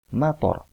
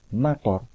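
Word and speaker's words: مطر: Akan tetapi, kalau kita mengucapkan mator, toknya itu hanya satu harokat, mator, maka dia bermakna hujan.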